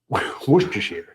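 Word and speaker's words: Worcestershire: It actually pronounced something like Woohashir or Wooers. Same thing. Woo. So, that emphasis on the woo. Wooers depending on your accent. My accent we're screwed. Uh basically most of these letters in the middle vanish when you say it essentially.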